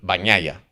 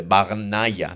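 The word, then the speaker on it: Bagnaia: tal y de bañaya, me dijeron bañaya, como si fuera para nosotros una ñe bañaya. Y yo lo repito así. Es verdad que hay gente que además dice lo de Bagnaya, ¿no? Pero a mí me dijeron, "No, no, esto es como si fuese una eñe, quizás no tan pronunciada como eña, así que Bañaya, eh,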